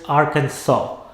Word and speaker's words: Arkansas: texas is on arkansas it is arkansas the last s is silent bill clinton was once